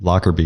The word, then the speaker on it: Lockerbie: Because like John Smith is going to be pretty hard to find, but your last name, is it Lockerbie? Is that how you say it? Lockerbie, yeah.